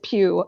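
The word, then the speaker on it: Pugh: know how I remember um what's her face Pew um Florence PE the only reason I know how to pronounce her name now is because she does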